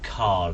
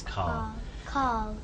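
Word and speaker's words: Karl: It seems like without an R. Yeah, I think it's my accent rather than. I think you said it right and I said it.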